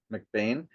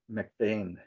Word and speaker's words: McBean: And even though my last name is spelled B E, it's pronounced McBain, my dad and my grandfather were always so uh insistent that you had to pronounce your last name Mcbane.